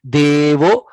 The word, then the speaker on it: देवो: Devo, it is not Devo. Devo, De is Visarga. A is always Visarga. Sorry, A is always Dirgha. Devo, Devaki Nandanoyam.